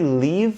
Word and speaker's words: leave: And pronunciation, I live in Brazil and leave. I leave for work. So live and leave, different pronunciation there.